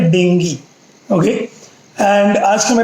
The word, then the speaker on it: dengue: देंगी के बारे में हम लोग ज्यादातर उसको हिंदी मराठी में डेंग्यू बोलते हैं क्योंकि उसका स्प्रे इंडियन जीव है मदद करें प्रनंसीएशन उसका उच्चारण है डेंगी अगले एंड आश्रम का